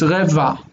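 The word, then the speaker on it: רבע: If it were Arabic, we would hear it, but in Hebrew it's dropped. So it's reva.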